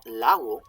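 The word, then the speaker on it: lagu: Now, lau, L-A-G-U, means law.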